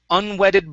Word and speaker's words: unwedded: go to unwedded okay so same thing here end on that d only unwedded bliss bliss instead of